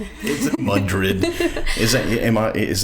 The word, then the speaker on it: Madrid: Is it Madrid? Is that am I is that the local pronunciation?